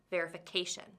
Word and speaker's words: verification: So the stress falls on K for verification. The stress changes because of the word ending. Verify, verification.